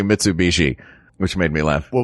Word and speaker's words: Mitsubishi: trying to Knoxville knoxvill and trying to say Mitsubishi which made me laugh what was the worst mispronunciation mitsuuchi was my favorite was my favorite um but